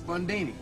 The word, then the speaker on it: Bundini: Bundini. Rhymes with Houdini, yeah, except that don't rhyme.